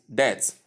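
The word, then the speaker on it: debt: Number 9 is death. You omit the letter B because it is silent.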